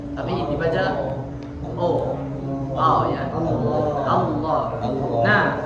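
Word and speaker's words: الله: Tidak dibaca Allahu, tapi dibaca ya. Allah. Nah, cara pengucapan yang betul itu hanya pergerakan lidah saja. Allah. Jadi bibirnya diam. Allah. Jadi yang bergerak itu lidahnya saja.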